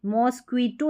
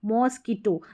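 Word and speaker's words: mosquito: तो यहाँ पर ये जो क्यू यू है इसका क्व, मॉस्किटो, मॉस्क्वीटो नहीं बोलते हम, क्वी बोल रहे हैं, नहीं, मॉस्किटो, क साउंड आ रहा है क्यू यू का। अब इसको लीक्वेर नहीं बोलते, लीकर बोलते हैं।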